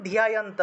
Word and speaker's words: ধ্যায়ন্ত: ম উচ্চারণ, তাহলে মাম ধ্যায়ন্ত, ধয়ের সাথে জফলা তাহলে ধিয় উচ্চারণটা আসবে, মাম ধ্যায়ন্ত উপাসতে।